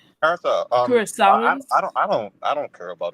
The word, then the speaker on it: Curaçao: And that's how you pronounce it too, Doc. Carousel.